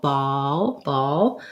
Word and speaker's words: ball: Ball has my vowel. Ball.